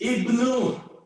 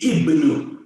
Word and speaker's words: Ibnu: Answer is Ibnu. Hello. The pronunciation is Ibnu. Ibnu. Arab word. Don't go and Ibn.